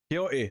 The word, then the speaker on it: Quixote: Quixote, thank you. I had no idea to pronounce that the last name.